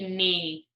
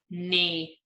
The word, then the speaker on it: knee: called a knee repeat knee knee so you see there is a K here this K is silent it's silent so that means you cannot hear the K we have two more